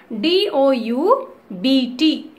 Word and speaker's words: doubt: D-O-U-B-T, doubt. In doubt, B is silent.